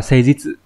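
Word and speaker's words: 誠実: Phần bên phải là chỉ cách đọc, như vậy đọc là C, chữ thực đọc là jitsu trong từ jitsuwa chẳng hạn. Vậy thì đây sẽ là C jitsu.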